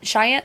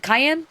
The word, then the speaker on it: Cayenne: Is it the Cayenne? Cheyenne Cayenne. I always say, Cheyenne, whatever. I always say it wrong.